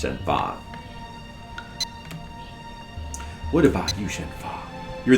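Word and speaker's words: Shenhua: Shena, I mean Shenfa. It's It's pronounced Shenfa.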